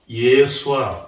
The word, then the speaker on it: 예수아: 또 이름 자체가 여호수아, 예수아, 발음은 예수아죠.